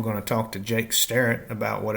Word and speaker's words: Starrett: And am I pronouncing your last name right? Starret.